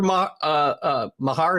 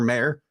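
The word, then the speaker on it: Maher: was, "I don't remember Mahar." Is that how you say his name, or Mayer? Mayer, yeah. Mayer throwing his helmet whenever Dak threw an interception this year.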